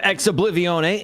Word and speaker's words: Ex Oblivione: We have official word from Kevix, who I have not done any background checking, but he claims to be the owner of Ex Oblivione and confirms that I say it correctly.